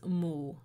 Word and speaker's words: 巫: In archaic Chinese, which we can see remnants of in Cantonese, Minnan, and other similar dialects, the pronunciation of the word Wu is Mu.